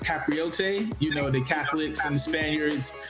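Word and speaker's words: capirote: outside of the KKK, I believe it's pronounced Capriote, you know, the Catholics and the Spaniards wore these hoods as well in unison and brotherhood.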